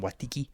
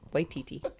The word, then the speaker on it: Waititi: Watiki? Yeah. Okay. Takia I love that guy. He's hilarious. Taka Watiki. Watiti. Oh. Waititi.